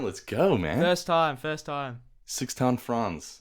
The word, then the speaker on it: Sixten Franz: Sixten Franz, like in an accent like that.